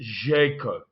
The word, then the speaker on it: Željko: And I believe that it is pronounced Željko.